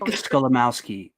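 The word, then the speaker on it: Skolimowski: It's just it's spelled exactly how it sounds. Gotcha. It's like my last name. Yeah. So, Scholamowski.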